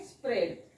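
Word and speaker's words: spread: कारण तो सायलेंट असतो इथे पण तसच आहे स्प्रेड याचा उच्चार काय असणार आहे मग स्प्रेड जसं बघा आणखी एक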